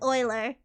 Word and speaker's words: Euler: Uh you might know about So there's this guy named Oiler. He has a number named after him. His name is kind of spelled like this way.